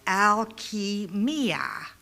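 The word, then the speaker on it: الكيمياء: And the word alchemy actually does come from ancient Arabic, and it's pronounced alchemia. Alchemia.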